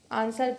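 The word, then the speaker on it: answer: आंसर सबको पता है कि डब्ल्यू यहाँ पे साइलेंट होता है।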